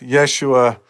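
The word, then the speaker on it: ישוע: An anglicized Hebrew version of the name is Joshua the Messiah, or more phonetically correct, Yeshua the Mashiach.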